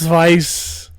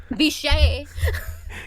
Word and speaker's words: Vice: You can just go to the So, so the vice isn't pronounced vice. Viche. Viche, which just sounds like you're making him French.